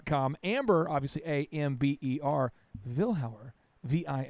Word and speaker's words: Vilhauer: out are gonna get it right it is Ville how're Joel comm that used to call me Amber